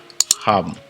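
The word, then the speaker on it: הם: Le il c'est ham.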